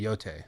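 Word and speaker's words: Yōtei: this stuff I'm so tired it's y okay yote that's how it's pronounced okay mince thank you for the five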